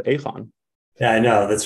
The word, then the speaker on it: Aegon: a multi-billion dollar uh by the way Brian even you pronounce it incorrectly are there the people in in the Netherlands pronounce it aphon yeah I know that's